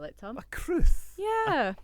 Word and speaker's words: crwth: How would you think you would spell it, Tom? A cruth.